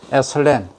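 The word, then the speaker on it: ethylene: 근데 이제 내부적으로 생리적으로는 ABA라든지 에슬렌, C2H4, 에슬렌 이렇게 발음합니다만, 이런 호르몬이 없어야 되고, 배가 소위 엠브리오 요 부분이 배라고 하는데, 엠브리오가 성숙해야 된다.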